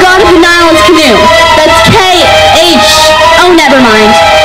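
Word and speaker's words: Khnum: The H is silent.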